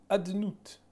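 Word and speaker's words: אֲדֹנָי: Il n'est pas lu avec les voyelles et la prononciation phonétique de ce qui figure au-dessus ou en dessous des lettres Yud Kevavke. Mais on va dire Adnut, c'est-à-dire A et après Do et après Nai, au lieu de dire Yud Kevavke tel qu'il est écrit.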